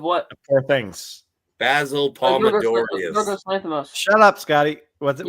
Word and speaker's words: Yorgos Lanthimos: Yorgos Lanthimos. Shut up, Scotty. What is that? Yorgos Lanthimos. Okay. No, not Lanthimos. Yorgos Lanthimos.